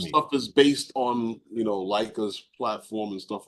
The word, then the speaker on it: Leica: I didn't even know how to pronounce it until my boy Corey had told me. Leica is the Aberdeen Proving Ground.